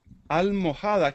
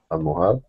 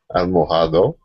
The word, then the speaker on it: almohada: Almohada, ¿qué es una almohada? Aquí, almohada. Ah, ¿te refieres a almohada? Almohado. No, termina con A, pero la H no se pronuncia.